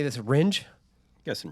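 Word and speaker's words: Rindge: Ringe? Yes, in Ringe.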